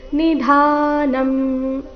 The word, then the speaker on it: ನಿಧಾನಂ: ಹಾಡಬಾರದು ತ್ವಮಸ್ಯ ವಿಶ್ವಸ್ಯ ಪರನ್ ಎಲ್ಲ ಅಕ್ಷರಗಳು ರಸ್ವ ನಿಧಾನಂ ಧ ಮಾತ್ರ ದೀರ್ಘ ನಿಧಾನಂ ವೇತಾಸಿ ವೇದ್ಯಂಚ ಪರಂಚ ಧಾಮ